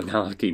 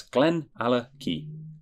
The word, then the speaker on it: GlenAllachie: That's GlenAllachie. Nice pronunciation guide there, just in case. Because I have had people think it was GlenAllachie or GlenAllachie. I don't know. GlenAllachie.